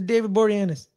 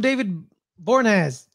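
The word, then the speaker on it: David Boreanaz: an emotional connection to David boranes I finally I finally learned how to say his name last year oh really yeah I kept calling him David bornaz I like it I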